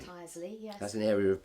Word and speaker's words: Tyseley: Mike, you got a boat, in fact several boats over the years, and finally Tilsley, is that how you pronounce it? Tyseley. Tyseley, yes.